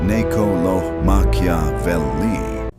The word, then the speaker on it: Niccolò Machiavelli: named Niccolo Machiavelli, pronounced Ne-co-lo Ma-chia-vel-li, sat in a small